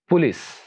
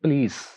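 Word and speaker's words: please: pronounce होता है, और इसको ऐसे प्रोनाउंस करते हैं पुलिस, जबकि सही प्रोनाउंसिएशन ये है प्लीज, प्लीज, प्लीज, यानी पे के ऊपर जबर आएगी बस, और लाम के बाद जो साउंड है यानी एल के बाद जो साउंड है उसको लेंथी कर देंगे, इलोंगेट कर देंगे,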